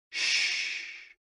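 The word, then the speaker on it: 嘘: The 6 sounds are XU, pronounced like shh, with a deep sigh, which is associated with the liver.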